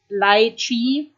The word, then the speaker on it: lychee: and nobody knows why I just recently learned how to pronounce it properly so I can go buy it in an english-speaking store it's called Lai Chi and when I used the German pronunciation that was kind of misunderstand about two people who don't speak German and I don't know what they were thinking when I asked for lychees um so yeah I